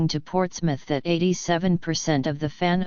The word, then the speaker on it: Portsmouth: He pronounces Portsmouth, as the British do, with the emphasis on the first syllable, not the last, as most outsiders might.